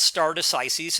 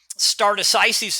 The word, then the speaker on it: stare decisis: It's called stare decisis, and there's a couple of different pronunciations, but I'm going to go with that one.